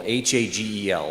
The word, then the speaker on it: Hagel: Hagel, Hagel, like bagel with an H. Easiest way to remember it.